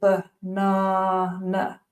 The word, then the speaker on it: banana: Or, for example, in the word banana, the emphasis is on the second syllable, banana, and the unstressed syllables are pronounced as schwas, banana.